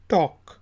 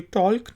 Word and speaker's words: talk: इसके बाद वर्ड है जी TALK, टॉक। तो ये टॉल्क नहीं है, टॉक।